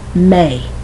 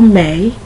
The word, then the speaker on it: May: sounds like an a you don't pronounce the Y that Y is there just to tell you that you pronounce the a like a let me give you